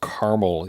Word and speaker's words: caramel: just a a tiny little caramel to eat or caramel if you're one of those people who say it like that, but I believe that letters should be spoken.